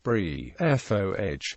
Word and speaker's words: Briffault: Asked how to pronounce his name, Briffault told the Literary Digest, "Should be pronounced Briffault, without attempting to give it a French pronunciation."